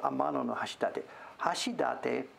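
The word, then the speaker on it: Amanohashidate: hashi hashidate it's the real place is called amano hashidate it's how you pronounce it in the middle of yuki uh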